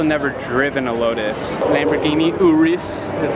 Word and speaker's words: Urus: Lamborghini Urus is how it's pronounced.